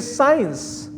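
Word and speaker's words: science: Second is साइंस, सी इज साइलेंट।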